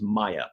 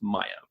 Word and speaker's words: Maja: because we weren't sure, is it Maja, is it Maha, what is it? They said it was Maya, pronounced Maya Vervillo.